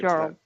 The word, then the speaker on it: Jarl: Her name is Jarl, right? Is that how you say her name? Yeah, perfect. Jarl. Yep, Jarl.